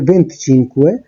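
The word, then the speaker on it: venticinque: 24 এর ক্ষেত্রে উচ্চারণটা হচ্ছে ভেন্টিকোয়াত্রো, 25 এর ক্ষেত্রে ভেন্টিচিনকুয়ে, 26 এর ক্ষেত্রে ভেন্টিসেই, 27 এর ক্ষেত্রে ভেন্টিসেত্তে, 28 এর ক্ষেত্রে ভেন্তত্তো, 29 এর ক্ষেত্রে ভেন্তিনোভে।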